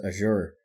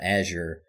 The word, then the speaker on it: Azure: with microsoft with microsoft owns azure or azure however you want to pronounce it and sony basically admitted